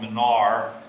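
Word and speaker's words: Minard: the name of Charles Manar m-a-m-i-n-a-r-d the D is silent because he was French and then usually the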